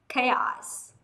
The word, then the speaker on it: chaos: Và tương tự như thế sang từ chaos, chaos nó cũng là k.